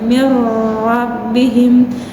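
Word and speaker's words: مِنْ رَبِّهِمْ: Nun sukun bertemu dengan huruf ro, maka dibacanya tidak dengung, tidak boleh lama-lama, misalnya mir rabbihim, tetapi hanya distasdid saja, langsung masuk ke huruf ro.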